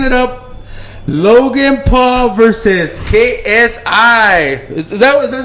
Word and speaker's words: KSI: Logan Paul versus KSI. Is that how you say it or no? Yeah, KSI. KSI.